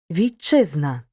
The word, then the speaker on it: вітчизна: наступними шиплячими і свистячими перед шиплячим вимовляємо як ч вітчизна перед свистячим вимовляємо як